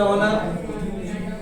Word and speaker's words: honour: इसमें an article आएगा, HONOUR ऑनर, HONOURABLE ऑनरेबल, ठीक है, ऑनरेबल, HONEST ऑनेस्ट, और HOUR और HEIR, ठीक है।